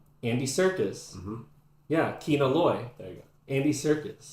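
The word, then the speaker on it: Kino Loy: How do you say it? There's no R. Keanor Loy.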